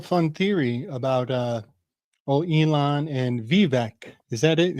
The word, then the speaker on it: Vivek: And you know, I have a real fun theory about Elon and Vivek. Is that it? Am I saying it right? Vivek? Vivek, yeah, Vivek. Vivek, Okay.